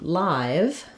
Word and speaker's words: live: the I sound so when we have a silent e at the end it's very typical spelling pattern for the vowel before the E to say the same thing as the vowel name I says I O says o a says a etc um so in live I write that sometimes with IG like in light just because it's a